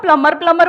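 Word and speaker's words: plumber: सर उसको खुद ही नहीं पता कि बी साइलेंट है। आप हाँ। उसको प्लम्बर बोलोगे, शायद उसको अजीब लगे, मैडम फालतू क्या एक्सेंट मारी।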